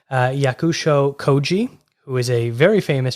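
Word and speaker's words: Yakusho Kōji: i really hope i say this correctly uh yakusho koji who is a very famous japanese actor a plus on the pronunciation a plus yeah you got it right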